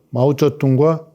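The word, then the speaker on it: 毛泽东: 그 중국의 내란을 끝내고 오늘의 번영의 뿌리인 그 공산혁명을 이룬 모택동, 그리고 모택동과 오랜 혁명 동지이면서 또 모택동 밑에서 총리, 국무원 총리를 오래 한 주을레, 중국 발음으로는 마오쩌둥과 조우얼라이.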